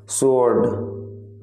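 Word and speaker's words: sword: Next वर्ड है तलवार, तलवार का मतलब है स्वॉर्ड, स्वॉर्ड। आपका स्वॉर्ड में जो साइलेंट लेटर है वो है डब्ल्यू, आप डब्ल्यू का यूज नहीं करते हैं जब आप स्वॉर्ड बोलते हैं।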